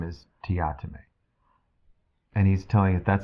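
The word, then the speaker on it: Teatime: kind of went, okay, I pronounced it wrong, so I'm going to start saying it Teotime. So every time that I read it, I'm like, Teotime, Teotime.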